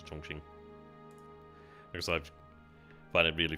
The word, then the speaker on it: Chongqing: I know it says Chongqing, but I'm going to go with the Chinese pronunciation to Chongqing.